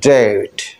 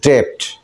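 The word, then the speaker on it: debt: ডাউট শব্দের পূর্বে ভিতরে যে বিটা আছে ওটাও সাইলেন্ট থাকবে আবার আমরা জানি ডেট ডেট আমরা বলি ডেপ্ট আমরা না জেনেই উচ্চারণটা করি যেহেতু আমরা জানিনা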